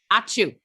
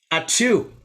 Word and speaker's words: Ačiū: This is how you say thank you in Lithuanian. Ačiū. Ačiū.